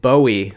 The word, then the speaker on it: Bowie: This is what they're calling their 6-inch bladed Bowie knife. That's how they pronounce it in their video.